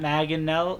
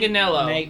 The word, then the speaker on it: Manganiello: His Joey Why are we focusing- Matt Manganello. Why are we Joe focusing- Manganiello.